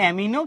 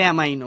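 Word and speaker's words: amino: অনেকে বলে অ্যামিনো, কেউ বলে অ্যামাইনো।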